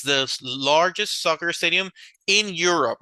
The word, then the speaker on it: Europe: Which city has the biggest soccer stadium in Europe? Barcelona. Barcelona, that's right. Very good. So the continent, this is pronounced Europe, okay? Europe.